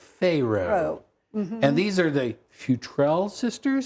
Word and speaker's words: Futrell: And these are the Futrell sisters? That's the way we're pronouncing it.